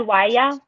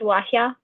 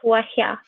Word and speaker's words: waya: But it's not pronounced waya, it's pronounced wahya. But anyway, I was impressed somebody knew I was saying it wrong, so there's that. It also takes longer to say it correctly. Yeah, a little bit of an additional, yeah. Syllable, yeah, that H that H sound. And it's in there twice, right? It's not just once. It's wahya instead of waya.